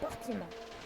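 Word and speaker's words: Portimão: Ça s'écrit Portimao, mais ça se dit Portimao.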